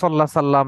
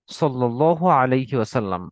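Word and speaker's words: صلى الله عليه وسلم: যে একটু তাড়াহুড়ো করে অনেক সময় আমরা সাল্লাহ সাল্লাম এরকম একটা উচ্চারণ করে ফেলি। বরং আমরা যেহেতু আল্লাহ রসুলের উপর দরুদ পড়ছি, অত্যন্ত ভালোবাসা নিয়ে, সময় নিয়ে, সুন্দর করে আমরা দরুদটি পড়বো সাল্লাল্লাহু আলাইহি ওয়াসাল্লাম। ওকে, তাহলে অর্থ দাঁড়াচ্ছে হে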